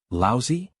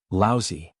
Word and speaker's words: Laozi: Zhang County magistrates frowned and said, Laozi? Li Mu corrected his pronunciation and said, Laozi.